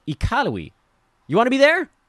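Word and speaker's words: Iqaluit: taught me that the capital up there is pronounced ikarui you want to be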